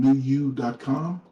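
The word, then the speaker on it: PneuYou: uh that's spelled p-n-e-u-y-o-u i know that name sounds a little weird but the word new um i took from the greek translation of the word numa which means spirit so i teach a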